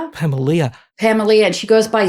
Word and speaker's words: Pamelia: Is that how you pronounce her name? Pamelia.